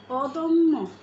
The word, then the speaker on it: অদম্য: এর মধ্য অ এর শেষে যদি জ ফলা থাকে তাহলে সেই অ এর উচ্চারণ ও এর মত হবে যেমন অদম্য অসভ্য আলস্য দেখো অদম্য অসভ্য এবং আলস্য তিনটা শব্দেরই মাঝখানে অ রয়েছে অযুক্ত ধ্বনি রয়েছে এবং শেষে রয়েছে জফলা তো এই জফলা প্রভাবে মাঝখানের এই অটি অধ্বনিটি ও এর মত উচ্চারিত হবে যেমন অদম্য অল আলস্য